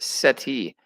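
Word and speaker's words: cestui: this phrase sesuke is pronounced seti with the accent on the first syllable uh care is pronounced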